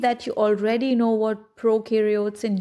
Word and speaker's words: prokaryotes: See, pro rhymes with no. Pro, no. The pro in prokaryotes rhymes with no.